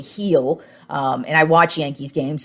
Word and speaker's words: Gil: And then you turn over to the pitching side of things, and I've been getting this guy's name wrong. I've been calling him Gil. It's actually Heel.